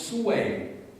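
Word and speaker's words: 隋: celle des Sui, mais ça s'écrit Sui, on dit Sui, ça va, mais ça se prononce Sui, S-O-U-E, accent grave I, enfin, translittéré évidemment dans l'écriture latine, mais c'est Sui.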